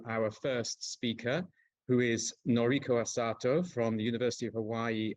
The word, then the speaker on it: Noriko Asato: Okay, so without further ado, we will move to our first speaker, who is Noriko Asato from the University of Hawaii at Manoa, if I have pronounced that correctly, Noriko.